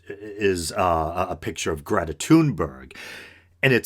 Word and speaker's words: Thunberg: he's going after Greta is a toon burg I that's how I heard Mike Figueroa from the from the humanist report pronounce it toon burg the young Swedish girl